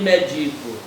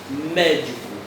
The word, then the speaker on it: médico: última penúltima e antepenúltima você não diz médico nem médico você diz médico então médico é a sílaba tônica é a mais forte é proparoxítona tem que